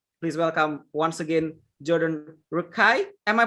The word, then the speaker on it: Rakei: my favorite musician please welcome once again jordan rukkai am i pronouncing it right that's right that's right that's